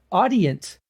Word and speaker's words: Audient: if i'm pronouncing this i think it's audience is the way that you pronounce it a-u-d-i-e-n-t uh another company